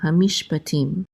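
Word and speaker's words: הַמִּשְׁפָּטִים: Okay, and then hamish, and then we have a pei with a kamatz, which says pa, and then a tet with a chirik and the yud together, say ti, and the mem sofit closes that syllable out, so we're going to say tim, hamishpatim.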